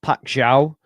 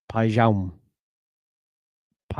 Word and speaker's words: Paixão: Also it's not Paciao. Someone commented on my video whose girlfriend is Brazilian. And it's not you don't pronounce the X. So I believe it is pa pou I believe.